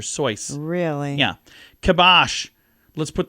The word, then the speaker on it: Seuss: He says, "You're wrong as the deuce, and you shouldn't rejoice. If you call him Seuss, he pronounces it Soyce." Okay. Yeah, so it's not Dr. Seuss, it's Dr. Soyce.